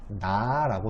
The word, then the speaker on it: 삼라: 이거를 소리 나는 대로 써보면 어떻게 써야 되냐면은 삼나라고 쓰는 게 맞아요. 삼라만상 할 때 삼나.